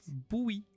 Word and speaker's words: Bowie: Ça se prononce Bowie. Quoi? Non, c'est un nom, comme David Bowie.